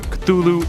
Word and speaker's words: Cthulhu: should be noted that lovecraft originally intended the name to be pronounced closer to because it originates in an alien language that can't be properly spoken by humans however the easier form cthulhu is more prevalent so that's what i'll